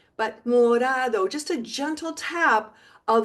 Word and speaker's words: morado: the word, like in morado, it's actually pronounced like a soft D. Morado. Not a hard D, not like modado, but morado.